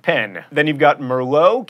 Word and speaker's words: merlot: pen then you've got merlot keep that tea silent and caramel three syllables